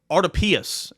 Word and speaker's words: Artopius: the freaking time, but I went to the pronunciation guide of UTC, and it is exactly how it looks.